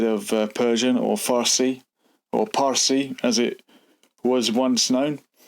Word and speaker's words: Pars: And of course, Arabs have a hard time pronouncing the letter P, so anything in the Persian language that did begin with a P became an F sound. So Pars, the region in the